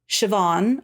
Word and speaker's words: Siobhan: Claire Monley was Siobhan, or Shu.